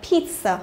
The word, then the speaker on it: pizza: Rồi, thế còn cái trường hợp này là hơi ngoại lệ, đúng không? Là pizza, đúng không? Pizza. Ok, thế còn những cái từ còn lại thì sẽ là những cái từ mà làm sao?